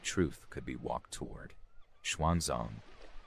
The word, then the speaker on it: Xuanzang: Xuanzang, pronounced Suansang in older texts, was not yet the legendary traveler he would become.